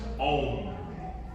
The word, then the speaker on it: Om: The first humming sound you're gonna make is A-U-M, pronounced Om, okay?